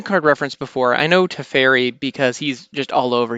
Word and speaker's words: Teferi: before I even get past his first name to ferry is how that seems to be pronounced and I got to admit when I